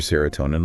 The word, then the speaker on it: serotonin: And they say that things like spending time with friends can really boost your serotonin levels.